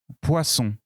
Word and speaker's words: poisson: deux dents poisson oui attention il n'ya pas le son à d'emploi son nom poisson poisson ça s'écrit comme ça poisson poisson il n'y a pas à illies awa à tence wahaha ce n'est pas le même son ouah ouah pour mais